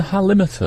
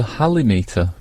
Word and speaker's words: halimeter: your mouth is it would you pronounce it the halimeter oh I'm sorry I would have gone for the halimeter because of Hal I'm so relieved we've cleared that up no but you're emphasizing limits that's that makes sense